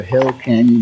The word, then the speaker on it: Hell Canyon: anyhow, we're crossing over Hell Canyon Bridge. And guys, I didn't say it wrong. There is no S at the end of Hell.